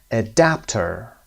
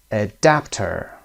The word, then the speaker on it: adapter: comfortable comfortable first syllable adapter adapter second syllable Cable cable first syllable